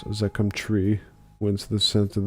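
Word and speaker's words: Zaqqum: He thinks Lucifer himself did bestow upon them a fruit the infernal Zachquim Zakum I can pronounce that it's Zakum tree whence the scent of the bones do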